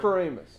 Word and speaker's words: Moranis: I can't pronounce his name, but I know his first name is Rick. It's like Rick Moranis. Moranis.